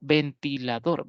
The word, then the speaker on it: ventilador: O ventilador, ¿verdad? Es una palabra polisílaba, pero aguda, ya que la mayor fuerza de voz la tiene la última sílaba. Ventilador, la última sílaba tiene esa fuerza.